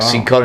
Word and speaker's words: Cincotta: Just tell her it's Cincotta. Well, before you do it, like, Not work Cincotta, out how the pronunciation of the name is, and then use it.